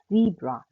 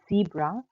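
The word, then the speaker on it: Zebra: सो ज़ीब्रा. यहाँ पर आप देख सकते हैं कि जो Z है वो इंग्लिश के TS या S की तरह प्रोनाउंस होता है.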